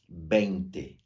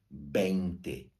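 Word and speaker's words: veinte: se escreve assim ó Bente escreve com V mas o v soa b de bola então Bente Bente e agora olha só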